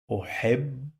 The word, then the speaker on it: أحب: But pay attention, I say what? أحب. I pronounce this B 2 times.